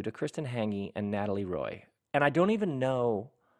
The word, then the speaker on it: Roy: I'm here in the back house with my new friends, Natalie Roy, the French pronunciation.